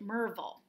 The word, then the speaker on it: Maryville: far from me that looked like Maryville but you pronounced it merval so I never know